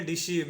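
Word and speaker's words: deceive: उच्चारण होता है ड, डी का उच्चारण होता है ड, ई का उच्चारण होगा छोटी ई तो हो जाएगा डी, छोटी ई का उच्चारण होगा तो हो जाएगा डी। सी का उच्चारण होगा यहाँ पे स, सी का उच्चारण होगा स, ई आई का उच्चारण होगा बड़ी ई तो हो जाएगा सी डी सी, और भी का उच्चारण होगा ब, इसको पढ़ेंगे डिसीव, इसको पढ़ेंगे डिसीव।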